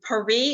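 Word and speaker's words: Pirie: You have 6 about Karen Pari. Is that how you pronounce her Pari. name? Okay. Pari.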